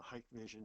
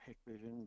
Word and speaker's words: Hikvision: douwe exact technology is a hike vision or hikvision depending on how you pronounce it Digital watchdog milestone so